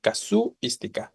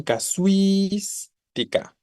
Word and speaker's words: casuística: Entonces, no es la U la que acentuaría, porque si no diríamos casuística, ¿no? Una pronunciación muy extraña, pero es más bien casuística, ¿no?